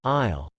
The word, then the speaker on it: aisle: of words the homophones aisle a passageway that divides rosa seats and isle and island especially a small one are both pronounced al the s is silent in both the confusion between these